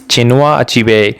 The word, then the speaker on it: Chinua Achebe: So you have to pronounce it like this. Chinua Achebe.